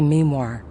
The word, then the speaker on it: memoir: It's a memoir, pronounced with the emphasis on me.